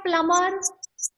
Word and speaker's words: plumber: Okay and ऐसे ही आपका है प्लमर। What do you mean by प्लमर? प्लमर, प्लमर PLUMBER, प्लमर। नल बनाने वाला ना प्लमर। इसमें भी आपका साइलेंट लेटर बी है।